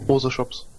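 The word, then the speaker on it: Moschops: Also angeblich wird der Moshops ausgesprochen. Die Mose und dann Geschäfte. Mose-Shops.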